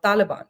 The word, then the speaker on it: Taliban: etymology Indians um what Indian YouTubers the word is they read it as Taliban the actual word is basically uh Taliban that's how it is pronounced and um you know